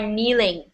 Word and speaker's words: kneeling: you are kneeling okay so the K is silent because where it is kneels bowing bowing is different